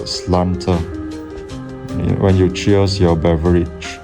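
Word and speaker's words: sláinte: Slanter. Isn't it schlancher? I thought it was pronounced schlancher. But then I listened again and the Irish guy, said it's pronounced slanter.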